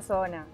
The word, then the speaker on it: Soona: Sona, en realidad tiene distintas maneras de pronunciarse. Yo le digo Sona, como se escribe.